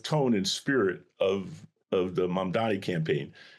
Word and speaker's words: Mamdani: It's Mamdani.